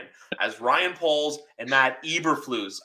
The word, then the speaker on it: Eberflus: Ryan Poles and Matt Eberflus. Everyone says like Eberflus. I say Eberflus. I know the E is silent. It's pronounced with an I.